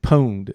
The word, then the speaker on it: pwned: Or PW and pwned. Is that how they say it? Have I been pwned?